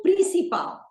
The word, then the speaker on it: principal: O prato principal. O prato principal is the main dish. All right. O prato principal. The word principal is emphasized on the last syllable because it ends with an L.